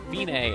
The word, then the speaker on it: Fine: note or dotted half rest it looks like fine but it's pronounced Binay and it means it's the end to the